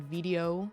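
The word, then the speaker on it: veadotube: it can be used in a program called Video Mini. V v. It's kind of hard to pronounce.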